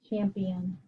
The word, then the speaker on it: champion: How about this word? Champ. E on closed syllable, champ. That's an open syllable I, but it sounds like an E. And that's a schwa. Champion. So guess what?